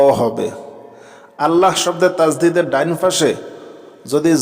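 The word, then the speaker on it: الله: মোটা মানে ল আর আল্লাহ শব্দের তাজদিদের ডাইন পাশে যদি এখানে জের দেখেন তাহলে পাতলা করবেন পাতলা মানে লা আমরা এখানে আল্লাহ শব্দের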